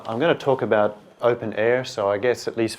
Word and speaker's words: openEHR: going to talk about open air so I guess at least 50% of you understood that this English pronunciation open air is a nice little joke like being in the